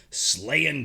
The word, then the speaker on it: Slayin: - I gotta say I am I mispronounced it's not slaying to slay in - it's it's a